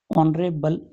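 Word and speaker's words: honourable: यहां उच्चारण किससे हो रहा है? ओ से। ऑनरेबल मैन। यहां एच साइलेंट है। साइलेंट होने की वजह से सीधा ही उच्चारण किससे हुआ? ओ से हुआ।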